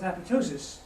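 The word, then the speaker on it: apoptosis: he came up with apotosis being a good Scott he said you don't pronounce the second P years later after all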